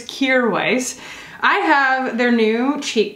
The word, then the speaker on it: Kjaer Weis: finally learned from their instagram how to actually pronounce it i was saying chiara weiss for a long time so it's kear weiss i have their new cheek colors by requests